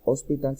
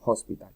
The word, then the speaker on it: hospital: Una película de terror, a horror film, y un helicóptero, a helicopter, y finalmente hospital no se pronuncia hospital sino hospital, a hospital.